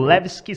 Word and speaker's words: Levski: Que você ganhou lá com o Levski Sofia, assim que pronuncia mesmo? Isso, Levski da Sofia, né?